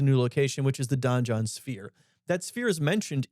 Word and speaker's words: donjon: on the donjon card we're not mispronouncing dungeon it's Donan d o NJ o n and it also introduces a new location which is the Don joh sphere that sphere is